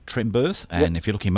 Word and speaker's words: Trembearth: It's pronounced Earth, as in Earth. Birth, as in a ship birthing. So Barry J. Trembirth, and if you look him up, you'll get him on Facebook there.